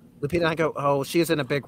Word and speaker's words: Lupita Nyong'o: So one of the original actresses was supposed to be, hopefully I pronounced the name right, Lupita Nyong'o. Lupita Nyong'o.